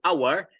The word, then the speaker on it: hour: the world and what hour is a silent h in the beginning of the um of the letter right editor is regular